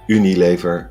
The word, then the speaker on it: Unilever: morgan i know someone was mentioning unilever or unilever as we pronounce it they are in